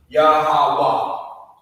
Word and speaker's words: Yahweh: Another Ha, because again, the Ha on the end of the word is silent. Yahweh.